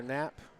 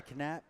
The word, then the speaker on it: Knapp: for number four Tyler Knapp I'm assuming the K is silent I was gonna say canap no it's not Aaron Barkley and Aaron